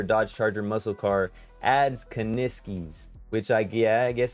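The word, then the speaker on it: Kuniskis: kaniskis said is that you say his name kaniskis says says little typo there if an electric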